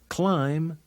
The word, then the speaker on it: climb: to read English fun when an M is before a be the is silent like in these words lamb limb climb comb can you think